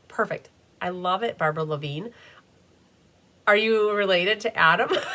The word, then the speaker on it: Lavine: Barbara says, "Pronounced like singer Adam Lavine." Ah, Lavine. I like it.